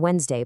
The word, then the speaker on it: Wednesday: And for D, you've got amidst, sandwich, Wednesday, handsome, badge. You eat a sandwich on Wednesday, but you never ever pronounce that D.